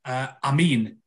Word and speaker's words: Amin: I mean, my surname's of Arabic origin, Amin, and how they say it out, you know, in the Muslim world, it is pronounced Amin, as it's, you know, it's spelled A-M-I-N, but it's pronounced as if it's A-M-E-E-N.